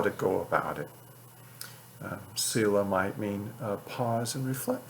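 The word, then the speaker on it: Selah: of psalms have it that word sila it's spelled s-e-l-a-h no one really knows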